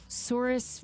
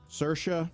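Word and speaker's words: Saoirse: Sorus Ronin. Sersa.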